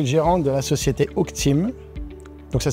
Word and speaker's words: Oakteam: gérant de la société h team donc ça s'écrit o a K T e a m comme le chîn en anglais et team comme une team on est si personnes